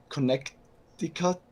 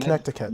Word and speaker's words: Connecticut: It's a lot softer. Yeah, soft Connecticut. Like yeah, Connecticut. Yes, without the hard T sound. Connecticut.